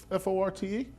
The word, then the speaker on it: Forte: Now, is there a French pronunciation for F-O-R-T-E? No, the French pronunciation is Fort.